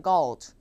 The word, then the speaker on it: gold: gold 할 때 또 발음이 걸드에 가까워요. 근데 골드가 아니라 gold예요, gold.